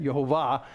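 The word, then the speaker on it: יהוה: When you see Jehovah, which actually in Hebrew is pronounced Jehovah instead, Yehovah, then that's what we see.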